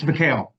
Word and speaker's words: McHale: Is it pronounced? McCall? I want to get it right. It's McHale. McHale.